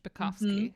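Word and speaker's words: Zbikowski: Spikovsky.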